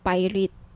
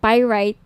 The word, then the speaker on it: pyrite: ng bracelet ito yung pirate pyrite sorry pyrite yung iba pronunciation pirate pyrite Okay 1,980 each may